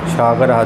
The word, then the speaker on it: সাগরঃ: সাগর, যখনই বিসর্গ থাকবে এটা হ উচ্চারণ হবে লাস্টে, স্কন্দ সাগর।